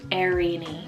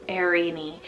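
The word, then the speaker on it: Airini: I have the name Erini, spelled A-I-R-I-N-I, Erini, and it's Maori from Greek, meaning peace.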